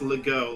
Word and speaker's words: Legault: Stop, Legault is pronounced Legault, like Renault.